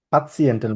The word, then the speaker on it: Patienten: পাতিয়েন্টেন বলি আমরা এটাকে।